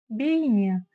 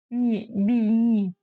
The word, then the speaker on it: бейне: слогам Бей бейне лишь есть один нюанс в казахском языке как пишется так и читается и ни одна буква не искажается то есть если написана буква е значит читается буква е и никаких гвоздей вот так то есть не бейне бини а именно бей не Вот такие дела Да